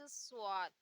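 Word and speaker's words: ص: फिर आता है नेक्स्ट स्वाद। स्वाद यानी इसे भी हम सा से प्रोनाउंस करते हैं, लेकिन क्योंकि स्वाद होता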